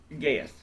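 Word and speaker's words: Gaeth: Gaith. Gaith. Would you spell that for me?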